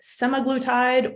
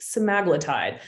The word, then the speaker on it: semaglutide: holding a vial of semi-glutide or also pronounced semaglatide I'm going to be pronouncing it sumaglatide today but either one works just know that this